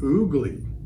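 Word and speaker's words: ugli: Jamaicans pronounce the name oogly, but we'll call it ugly.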